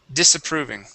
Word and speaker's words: disapproving: word disapproving disapproving okay these are going that is going to be a uh an an unvoiced S instead of disapproving dis disapproving disapproving very good nice